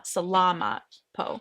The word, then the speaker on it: salamat po: You're supposed to put the emphasis on the la, salamat po.